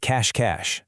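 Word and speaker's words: cache-cache: First up, we have cash cash. That's the playground classic hideandsek. Listen to that pronunciation again.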